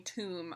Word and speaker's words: tomb: he means is that it's pronounced with a with a silent B right but so AUM